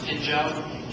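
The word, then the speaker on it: Phinjo: The gentleman that I climbed with both years, Pinjo Sherpa, is spelled P-H-I-N-J-O, but pronounced Pinjo.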